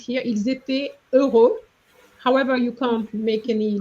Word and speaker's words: heureux: Euro versus euro. Euro as in euro, the currency versus euro. Heureux means happy. Okay, and it's it's the same sound, whereas euros, as you said, the currency, the second syllable is a O, not an E.